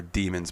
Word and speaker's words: daemon: There's a point where you end up getting attacked by a daemon, or I call them daemons, but they're demons, but they're spelled like daemon. I guess that's just another way to spell demon, but Daemon.